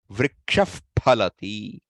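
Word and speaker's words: वृक्षः फलति: The Visarga, which is followed by Pa or Pa, will be pronounced as the F sound. Ramaf Pachati. Vrikshaf Phalati.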